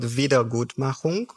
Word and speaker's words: Wiedergutmachung: Can you pronounce that word and then explain that? How about that? So the word is called Wiedergutmachung, Wiedergutmachen.